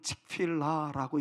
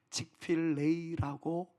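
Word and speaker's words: Chick-fil-A: 어떤 분들은 칙필라고 읽기도 하고요. 어떤 분들은 칙필레라고 읽기도 하였는데 한국인의 발음으로는 제일 맞는 발음은 칙필레이라고 불려지는 것이 가장 좋은 발음이라고 배웠습니다.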